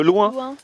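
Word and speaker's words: Luins: Il fait, si, parce qu'en fait, c'est à côté de la ville de Loin. Mais ça s'écrit comment? L-U-I-N-S. L-U-I-N-S. Et ça se prononce loin.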